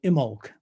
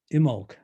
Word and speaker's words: Imbolc: And then going to the right, we come to Imbolc. The B is silent in the name. And, well, that was yesterday. Imbolc, where the springtime begins.